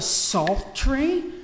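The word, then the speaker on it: psaltery: So, it is called a salt tree. Salty is like the word psalm spel silent p s a l t e r y.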